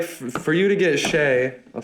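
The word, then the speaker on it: Shai: That's the thing is like for you to get Shea, I'll say it right, Shea.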